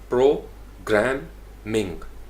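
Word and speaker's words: programming: यानी प्रो एक sound, प्रोग्रामिंग, Ming एक साउंड होगी, तो ये 3 सिलेबल हो गए। तो इसको आप ग्राम के ऊपर स्ट्रेस करना चाहते हैं, प्रोग्रामिंग, प्रोग्रामिंग लैंग्वेजेस।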